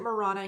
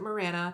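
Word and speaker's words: Marana: this map is Morana we don't pronounce it Morana here we pronounce it Mirana then we have south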